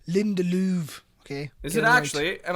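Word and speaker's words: Lindelöf: that was a shock it's actually pronounced linda louvre okay is it actually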